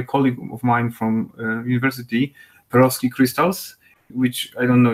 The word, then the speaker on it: Perovskite: Perovskites. Yes, yeah, all right, that's the pronunciation.